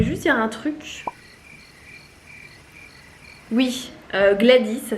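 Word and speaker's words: Gwladys: Oui, Gladys, ça s'écrit avec un W. Alors oui... c'est bizarre. Non, il ne se prononce pas.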